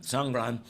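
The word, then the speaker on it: Songkran: what song Run is let me spell it it's s-o-n-g uh k-r-a-n sangran and it's the the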